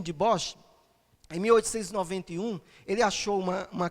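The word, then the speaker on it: Dubois: aqui Eugênio deboche né se a pronúncia holandesa Eugenio deboche em 1891 ele achou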